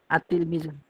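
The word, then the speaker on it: التلميذ: টি হরফের শুরুতে যদি আলিফ লাম যুক্ত হয় তো আমরা বুঝতে পারি যে অবশ্যই এখানে লাম হরফটি উচ্চারণ হবে না বরঞ্চ লামের পরবর্তী হরফে তাশদিদ রূপে অবশ্যই উচ্চারিত হবে যেমন তার উপরে তাসদিদ হবে সার উপরে তাসদিদ হবে এরকম ভাবে হ্যাঁ আত তিলমিজুন হ্যাঁ এখন পড়ুন তিলমিজুন একজন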